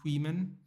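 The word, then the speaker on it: Caoimhín: So yeah, it's like Queeman Kelleher. You know, it's spelled Caomhin, but they call him Queeman.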